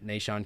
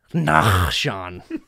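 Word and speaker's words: Nahshon: funny we're in usada after the matches and nashon comes in I'm sitting there with Zane and uh that you saw the lady goes are you in nashon and he goes nah Sean it's pronounced I was like oh my gosh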